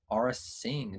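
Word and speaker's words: Aurra Sing: First off, congratulations to BH91197 for the approval of her Aura Singh. Did I pronounce that right?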